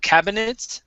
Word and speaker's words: cabinets: Okay, so instead of pronouncing that I, okay, it's going to be silent here. So it's cabinets instead of cabinets.